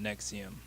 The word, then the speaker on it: NXIVM: the name of the organization is nexium but just how it's spelled because they don't have missing the eval so it looks like something else and just how it is it just doesn't look right but they call it nexium but he was arrested